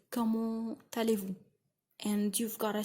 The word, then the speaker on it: comment allez-vous: You've got to say comment allez-vous?